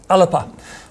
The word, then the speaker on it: Alba: a new political party called Alba or I think in actual fact The gales pronounced it alepa party and some of the